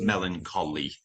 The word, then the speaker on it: melancholy: Yeah, we don't say we don't say ch. Just melancholy.